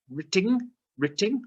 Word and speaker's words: written: this yesterday didn't we this silent w so we'll just ignore that written maybe not written maybe